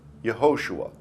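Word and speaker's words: Yehoshua: Joshua is called Joshua, but in the Hebrew, it's spelled Yahosua. In Joshua 1:1, we see that Joshua the son of Nun is yod vav shiny which is yahosua.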